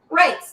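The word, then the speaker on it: Rayce: y c e and it's pronounced race like r a c e race means counselor and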